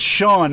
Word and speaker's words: Sean: also my single that's on there and it's Sean s EAN just for people that can't spell long people actually misspell that it is at the end yet some